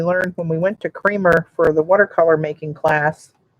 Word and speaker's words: Kremer: Always called it Kramer, but when we were there, they said it's Dr. Kramer. Kremer. He pronounces it himself Kramer. So I guess he knows what his name is.